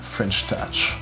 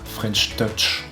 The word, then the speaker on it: French touch: Ah oui, attention à bien le prononcer avec l'accent français. C'est pas French touch, mais c'est bien French touch.